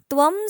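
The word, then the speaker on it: त्वम्: लिहिले सेम लिहिलं जातं कधी कधी त्व वरती अनुस्वार असेल तरी त्याचा उच्चारण त्वम असत काही ठिकाणी त्वम पूर्ण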